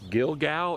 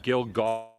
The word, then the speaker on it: Gilgal: __ ] watch this pronounce gilgal or gilgal that depends on whether you say it in english or hebrew it's a hebrew word yes yes it's the